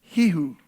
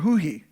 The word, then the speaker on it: Yahweh: That's the true name of God, and it's pronounced Hihu or Huhi.